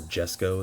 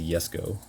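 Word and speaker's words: Jesko: the uh Koenigsegg yesco or Jesco as some people call it I believe it's supposed to be pronounced uh as a yesco notice how I can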